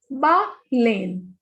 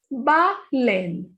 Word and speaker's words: baleine: Baleine. Whenever E is at the end and it has no accent, it has no sound. So we will not pronounce this E. The pronunciation of this will be baleine.